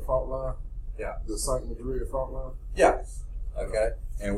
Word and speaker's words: Madrid: It spelled like Madrid, but it's called Madrid, Missouri, I believe it is, somewhere there.